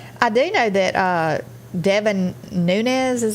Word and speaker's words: Devin Nunes: going to open i do know that uh devin nunes is how you say his name he resigned